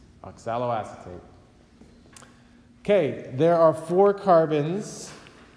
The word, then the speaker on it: oxaloacetate: molecule called oxaloacetate okay this is a big long word lots of syllables but you could say acetate right I guess you can alright what do you say acetate and then it just has ox a low on the beginning oxaloacetate okay there are four